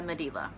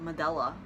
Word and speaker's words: Medela: my pump review spoiler alert it's not a medela which I found out the other day that's how you pronounce that I had no clue alright like I always held that medulla I always thought it was a medulla pump